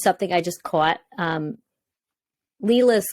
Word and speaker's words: Lila: I just caught um Leela's character is spelled l-i-l-a and I'm like that's like a really interesting way to spell Leela well the director of